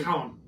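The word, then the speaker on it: Colm: think that's how they I should say this column yeah I mean that's how it's actually pronounced yeah I think it's right but with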